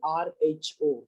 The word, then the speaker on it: rho: It is pronounced as RHO, rho, RHO.